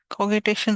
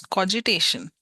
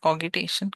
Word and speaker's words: cogitation: Let's see how it's pronounced. It's cogitation. Okay, not cogitation, cogitation.